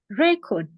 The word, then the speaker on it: record: So when you put stress on the first syllable of a word, for example, this word has 2 syllables, and you put the first word you put is stress, you mean that it's a record of something.